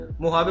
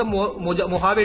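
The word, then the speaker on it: Mojave: तो देखेंगे आप लोग मोहवे डेजर्ट मोहवे प्रोनाउंस करते हैं आई गेस एम ओ जे एवी ई ठीक है ये आपका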